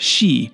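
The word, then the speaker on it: 四: And in Japanese, the number four can be pronounced she, which is also associated with the word death.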